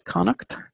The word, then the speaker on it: Connacht: that's Co n and a CH T is Connacht in the old Irish and again just for the pronunciation of the house I'll say it again